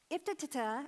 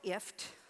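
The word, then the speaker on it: IFTTT: Iftitata and Zapier. Now, neither one of those are how they pronounce it. They call it IFT, rhymes with lift.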